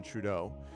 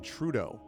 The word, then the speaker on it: Trudeau: And every time I'm like, ugh, it's so Trudeau. What? Why? What? But that's how they do it. They always pronounce the first syllable, emphasis on the first syllable of his last name.